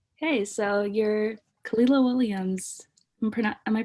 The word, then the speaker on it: Kahlila Williams: Okay, so you're Kahlila Williams. Am I pronouncing that right?